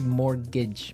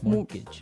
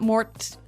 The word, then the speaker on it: mortgage: with a t yeah it has a t in it but you don't pronounce it you say morgage morgage so not Mort mortgage not mortgage morgage